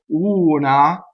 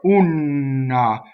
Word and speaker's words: una: word is una so the thing that about this word I often hear wrong is that there's a double end instead of a single end all right so that's the first mistake you can make right so instead of una I here ooh na so let's talk about